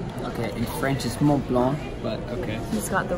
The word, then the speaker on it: Mont Blanc: under not in the wrong okay French is Mont Blanc okay he's got the right pronunciation as I speak French in it really